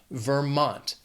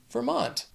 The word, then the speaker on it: Vermont: Also 2 syllables, but the stress is on that second syllable, Vermont, Vermont. Next is Virginia.